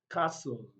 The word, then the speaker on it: castle: t we can find the silent letter t in the following words castle castle that is letter t is not pronounced and that is why